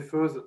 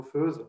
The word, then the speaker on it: Feutz: Alors effectivement, je m'appelle Feutz, vous pouvez prononcer Feuze, ça me va très bien. En France, on prononce plutôt Feuze, à Genève aussi. Dans le reste de la Suisse, c'est un peu plus alémanique, et donc on va dire qu'on prononce à l'alémanique Feutz.